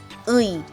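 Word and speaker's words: 의: Don't pronounce it as ui. It is not ui or e. It is ui, ui.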